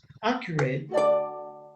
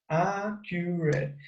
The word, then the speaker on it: accurate: Okay, now next, pronunciation, tyranny, conspire, destructive, hostilities, fate, invade, naval, accurate, accurate. If you see accurate, accurate. Accurate. Okay, like the accent goes in the first syllable.